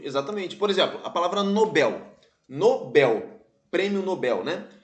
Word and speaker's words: Nobel: letra c de casa a palavra Nobel é oxítona isso a palavra fortuito